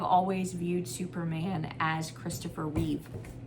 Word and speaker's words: Reeve: Um, I uh I have always viewed Superman as Christopher Reev, not plural, not with an s in the air.